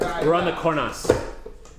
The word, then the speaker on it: Cornas: We're on the cornas. Nice. There you go. Love that All right. Okay. Okay. No. Corna. You don't pronounce the S.